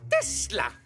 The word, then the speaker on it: Tesla: Ça se prononce Tesla. Nikolai Tesla.